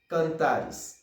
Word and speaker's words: Cantares: R-E-S não. Songez e ali por isso com I. Tá bom? Nous dit cantares.